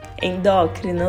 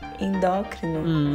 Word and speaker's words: endócrino: a pronúncia certa endócrina Lu não não é isso endócrino endócrino é isso arrasou agora é minha